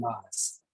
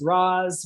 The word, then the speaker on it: ROS: and this is to raz or not to ross that is the question so let's talk about ross uh what is rocks so roz stands for robot operating system um and again it's pronounced raws when i first started working with it i